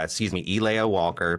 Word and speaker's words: Elaya: Have a Leia Walker pronounced like Elia, excuse me. Elia Walker, pronounced like Princess Leia but with an E on it.